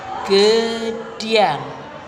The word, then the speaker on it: Gedang: drum The Rain Gandrung ada juga Gedang pengucapannya seolah-olah ada huruf y ada setelan Y di tengah kata Gedang jadinya gede dia Nah itu anak-anak diri